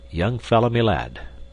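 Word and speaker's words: young-fellah-my-lad: gone and done it young fell my lad this curious phrase he pronounced as if it were all one word young felmy lad yes we've taken a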